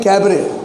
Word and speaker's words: cabaret: सबसे पहला जो वर्ड है वो है तो बेरेट, उसको पढ़ते हैं कैबरे। स्पेलिंग है CABARET, टी साइलेंट होता है और कैबरे होता है उसका प्रोनाउंसिएशन CABARET। कैबरे का मतलब है इट्स a type of series of dances.